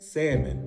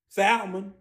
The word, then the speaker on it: salmon: I'll take some but you do know it's pronounced salmon right that's what I said salon you want some chicken and quana tonight some